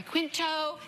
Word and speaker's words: Quinto: And Zachary Quinto. Did I say his name right? Yeah. Okay. Quinto, yeah. Matt Bomer.